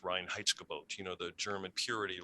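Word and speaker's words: Reinheitsgebot: uh you know i i believe it's pronounced ryan heitzke boat you know the german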